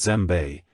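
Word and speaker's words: djembe: loved one three gem the West African gem pronounced zbe is one of the best known African drums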